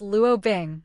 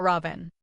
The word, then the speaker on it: Lu Bing: Hello, my name is Lu Bing, not Robin. It's just a matter of pronunciation, Lu Bing explained awkwardly.